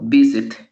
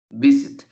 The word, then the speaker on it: visit: pronunciamos en el verbo visit visit el acento la fuerza la tiene en la primera fila visit ya el 7 recae bizet visit ahora si yo coloco